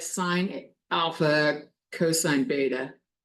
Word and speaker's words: beta: Alpha, beta. Most people see it and say beta. That's the American pronunciation of it, beta.